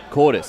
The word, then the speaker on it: Cortis: It's Cortis. Cortis. I've been running with Curtis for over a year.